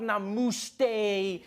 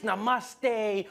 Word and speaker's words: Namaste: on like dude it's not Nam it's Namaste who messes up Namaste